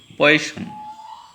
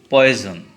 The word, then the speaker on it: Poisson: Okay, let's see Poisson. From my experience, I observed that many students pronounce the word poison. No, it is not poison.